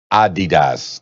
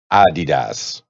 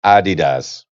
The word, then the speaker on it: Adidas: the CEO of Adidas that's how he pronounced it ID'd us it's not adidas the whole time man Run DMC told me that it's my uh Dita's no it's Adi does according to them and if he's the CEO